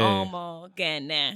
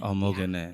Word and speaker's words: Omoghene: gotta like say it the way it's spelled. Okay. Like soft sounds. So Okay. Omoghene. Omoghene.